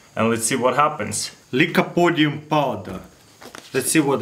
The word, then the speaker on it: Lycopodium: gonna show you a pretty cool experiment with Lycopodium powder, that's how you pronounce it.